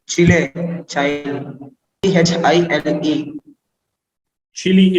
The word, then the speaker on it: Chile: Chile is what you mean. Well, Prashant is on fire today. He is absolutely right. The answer, Vinson Massif, is indeed claimed by Chile, but he pronounced it a little differently for some strange reason.